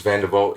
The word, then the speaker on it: Van Der Walt: pronounce your last name vanderwaal vandervolt vanderbolt yep that's a very um it's dutch isn't it that's that's just the way it's pronounced in africa okay well funny like